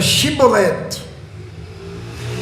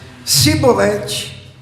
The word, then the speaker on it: chibolete: respondesse que não diziam Então diga chibolete se eles dissessem sibolete sem conseguir pronunciar corretamente a palavra prendam-no e matavam no